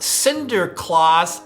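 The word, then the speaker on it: Sinterklaas: of St Nicholas or in Dutch it was pronounced Cinder Claus ah Santa Claus so we are going to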